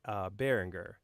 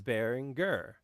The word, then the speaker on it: Behringer: behringer x1 but let me explain why I say berenguer because a couple years ago several years ago I went to the NAMM show and I asked one of the reps at bearing err how to say the name and he said well is German is berenguer so that's why I have been saying Berenguer but I know that